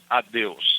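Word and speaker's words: adeus: Addios. It's a d eus.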